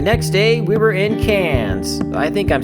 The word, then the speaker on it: Cairns: The next day, we were in Cairns. I think I'm saying that right. Why don't we pronounce the R?